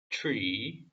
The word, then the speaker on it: tree: She saw that the tree 여기는 T랑 R이기 때문에 추 발음이죠. 추 트가 아니라 추 tree was beautiful 여기도 R